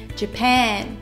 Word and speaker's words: Japan: 出しますうーんうジパンはペーンを強く発音しますでは 3